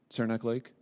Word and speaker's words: Saranac Lake: been there is that is that the right pronunciation Saranac Lake that was your destination yes so did you